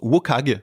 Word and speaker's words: WCAG: cherche en français et dans le milieu anglosaxon on le once wokag j'ai découvert ça récemment mais prononcé comme ça on a du mal